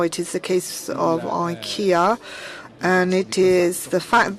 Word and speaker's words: IKEA: sector, and now it is the case of IKEA, and it is the fact that liquid biogas